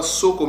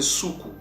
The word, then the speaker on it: Suku: Donc, Soukou, ce nom-là, ne se prononce pas Soko, mais c'est Soukou.